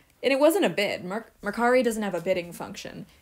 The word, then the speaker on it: Mercari: yesterday I was on Mercury Macari I'm finally saying it right folks and actually I